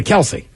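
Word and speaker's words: Kelce: called him Kelsey anymore I'm probably gonna call him Kelsey we just found out a couple weeks ago it's actually Kels I don't care yeah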